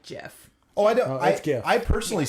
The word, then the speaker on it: GIF: time he'll say jeff kathy makes the argument it's not she's like you don't say giraffe they say giraffe i'm like well it's spelled different the r is in there kathy won no kathy is not one i don't hate that argument but i still don't like jiff oh i don't i